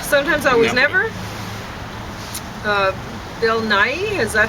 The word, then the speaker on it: Nighy: Bill Nighy, is that how you say his name? I don't know. I'd say Nye. Oh, yeah, Nye.